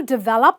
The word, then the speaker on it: develop: it's d so you stress the valve you go develop i will develop this software do you develop software i want to develop content not develop develop say this after me develop develop okay now this is the